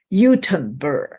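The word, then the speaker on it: Göteborg: I was told that you should call it Utenburg. That's according to their language, their pronunciation.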